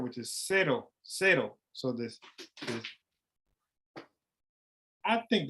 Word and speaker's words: cero: Okay, so the C in Spanish sometimes most often it's pronounced like an S in English. So cero.